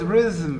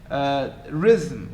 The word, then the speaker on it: rhythm: be deleted i mean maybe there is no vowel at all as in the word rhythm itself rhythm there is no vowel but there is a schwa so in terms of